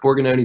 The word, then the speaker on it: Borgognoni: know what they were talking about but you pronounced Borgan Oney perfectly so I already like you guys beautiful